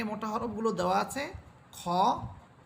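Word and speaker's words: خ: হরফ হা এরপরে হরফ খ হচ্ছে মোটা হরফ এজন্য আমরা এটাকে আকার ছাড়া বলবো অর্থাৎ খা বলবো না বরং এটা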